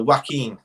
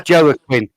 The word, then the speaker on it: Joaquin: sorry mcqueen but uh joaquin is he says you have a connection sorry i always thought it was joey quinn joe quinn sorry that's how you spell